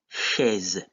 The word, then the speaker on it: chaise: Some examples are the word chaise in French, which is chair. So in this case, AI is pronounced E.